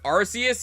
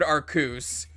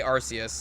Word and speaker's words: Arceus: it's pronounced i have never heard anyone pronounce it arcouse i've heard arceus and arceus i've never heard arkoose but i always say arceus like i say it like with the s sound i think tolerate pain